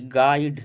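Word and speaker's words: guide: यू आई डी ई गाइड गाइड में यू जो होता है साइलेंट होगा ऑप्शन एक करेक्ट होगा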